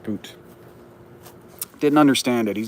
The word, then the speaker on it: Bout: understand everybody's meming with Victor bout or boot excuse me it is pronounced boot didn't understand it he's